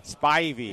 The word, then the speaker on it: Spivey: Spivey.